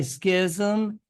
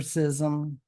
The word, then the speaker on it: schism: If you say schism, there are two pronunciations. Check your dictionary, I promise. I just prefer schism. I don't know, that's just me. But they're both correct.